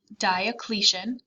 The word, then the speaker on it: Diocletian: emperor diocletian that's how you say his name diocletian decided that the empire was too large and